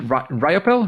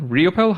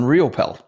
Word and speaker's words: Riopel: only because you said so so Robert Raymond ropel riopel how do you pronounce that one you got it on the second one riopel riopel he is an international bestselling author app designer